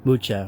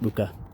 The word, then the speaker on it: Mucha: Or Mucha, or Mucha, some people say it. I pronounce it Mucha.